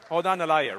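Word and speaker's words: Hodan Nalayeh: Did I pronounce that correctly? Hodan Nalaye.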